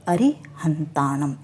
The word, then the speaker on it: अरिहंत: हम एक साथ बोलेंगे हम कैसे बोलेंगे नमो अरिहंत हम इस हरि की मात्रा को बड़ा नहीं बोलेंगे मात्रा बढ़ाने की मात्रा ही होता है तो जब भी हम उच्चारण करें तो हम यह दोनों शब्द नमो अरिहंत ऐसे बोलेंगे ठीक है अब आगे